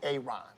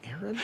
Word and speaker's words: Aaron: Why didn't you say it the first time I said Ron? Because it's pronounced Aaron.